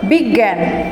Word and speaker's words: বিজ্ঞান: যেমন বর্গীয় জ যোগ ইয়, এর উচ্চারণ গয়ের মতো, যেমন বিজ্ঞান, সংজ্ঞা, এরকম ইয় চ, অঞ্চল